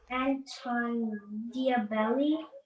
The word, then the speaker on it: Diabelli: Anton Diabelli.